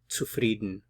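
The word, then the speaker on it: zufrieden: frieden dubist to frieden be careful with the pronunciation here the C is like a a TS to frieden to frieden to frieden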